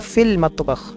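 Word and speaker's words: في المطبخ: सो आमिना हिया फी अल मतबख, तो यहाँ पे लूनर लेटर है, लाम प्रोनाउंस हो रहा है ना, तो ये मीम जो है, मीम ये लूनर लेटर है, हिया फिल मतबख।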